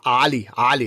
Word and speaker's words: Ali: Because if I'm in the Arab world, it's Ali. It's not even the first letter, the Aleph of the Arabic.